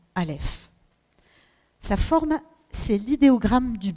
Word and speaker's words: Alef: première lettre le Alef donc on la prononce Alef sa forme c'est l'idéogramme